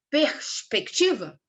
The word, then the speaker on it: perspectiva: Perspectiva. A gente tem ali, ó, vamos ler a palavra. Perspectiva. O ti é a vogal tônica, tá? Desculpa, é a sílaba tônica.